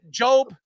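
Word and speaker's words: Jobe: And and to me, the the opportunities they have, uh Job, or is am I right how I pronounce his name? Yeah, Josh Job.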